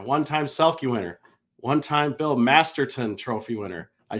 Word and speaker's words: Masterton: 1-time Conn Smythe winner, 1-time Selke winner, 1-time Bill Masterton Trophy winner. I said it right. No more Masterson.